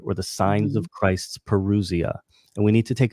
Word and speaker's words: parousia: What are the signs literally of your parousia? And can you spell that? I want to type it in. I think I have it right, but just confirm. Parousia. It's Paru. Yes. So Parusia.